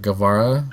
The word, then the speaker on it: Guevara: My wife didn't realize that Guevara, right? That's how you pronounce his name.